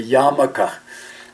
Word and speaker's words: yarmulke: in Judaism called a yarmulke the word expelled actually has an R in there but no one really pronounces the ark this is the skullcap